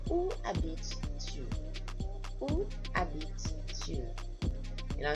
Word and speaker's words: habites: So we don't pronounce the S's and the T's, etc. at the end of French words normally unless they're followed by an E.